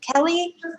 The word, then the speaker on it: Kelly: Is it pronounced or Kelly? Kelly. Kelly?